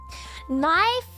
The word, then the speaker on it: knife: was just like Murray knife the K at the start of knife is something called a silent letter and then I was